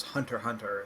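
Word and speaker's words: Hunter × Hunter: started like re-watching um hunter x hunter recently or i guess hunter hunter is just how you pronounce it but that's so weird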